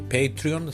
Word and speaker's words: Patreon: Recuerden que pueden ser mecenas de perípatos para ellos vayan a mi Patreon, se escribe patreon, así como suena.